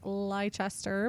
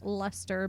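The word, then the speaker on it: Leicester: case you're curious and it totally looks like it could should be pronounced liester but it's leester because England and um it was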